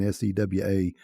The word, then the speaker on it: SEWA: today's conversation is going to be focused around saywa and for those who are not familiar with with say well which you're probably not it's spelled as you can see on kavita screen s-e-w-a uh we pronounce it sewa and she can talk about